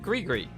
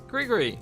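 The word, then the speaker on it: gris-gris: our Hear You playthrough, I didn't know how to pronounce the G-R-I-S word. So I said Gree-Gree. And I said, you know, that's just how I'm going to pronounce it. And it's probably wrong, but we're going to stick with it.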